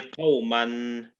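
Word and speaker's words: قومًا: Yeah, so that will be qawman, okay? So Qawman. yeah, so don't worry about the alif here, okay?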